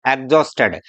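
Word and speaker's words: exhausted: एक्स के बाद में एच साइलेंट है, एग्जिबिट, एग्जॉस्टेड।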